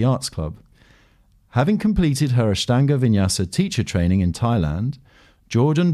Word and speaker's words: Ashtanga Vinyasa: pleasure and um first of all did i pronounce that right ashtanga vinyasa ashtanga vinyasa yes you did okay well we'll come to